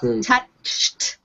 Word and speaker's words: touched: it's the First Column but you need to pronounce it correctly touched touched touched remember you're you have to end